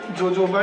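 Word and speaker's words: jojoba: है इसके अंदर एलो जोजोबा शैंपू एक्चुअल में जे इसमें साइलेंट होता है एलो ओोबा शैंपू है और ओोबा एक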